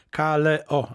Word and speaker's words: Kaleo: Glass House, grupa nazywa się Kalio, pisze się przez K. Kaleo, dokładnie.